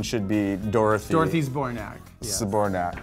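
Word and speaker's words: Zbornak: Saborac cuz that's pretty much all I ever hear. Two syllables, not Zabour.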